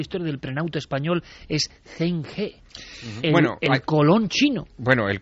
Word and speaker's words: Zheng He: Allí no se llama Zheng He, allí se llama Chang Ha, que es... Veo que has tomado buenas clases. Sí, allí es como lo pronuncia.